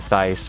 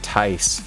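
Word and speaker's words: Thais: Thus, but I call it Thice because because to me that's what it is. But if you go by the creators of the game in their interviews, they call it Ty. So everybody is saying it wrong because nobody's saying Ty.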